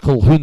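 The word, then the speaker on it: Colquhoun: called Hoon, but uh if you read his name, you wouldn't be able to pronounce it like that depending on where in the world you're from. If you're from Scotland, you might guess it.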